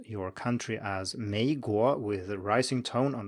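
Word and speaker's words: 美国: We talked about it in episode 26, but to put it very briefly, the third tone is usually a low tone, but many people pronounce it as a rising tone.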